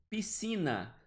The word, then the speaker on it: piscina: Piscina. Piscina também. Esse SC está funcionando como um dígrafo. Está funcionando como um único som.